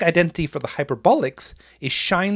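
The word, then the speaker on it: sinh: of the angle and hyperbolic sign pronounced shine is the y-coordinate then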